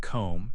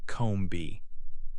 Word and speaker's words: comb: For example, in the word comb, you say comb, not comb B. The B is silent.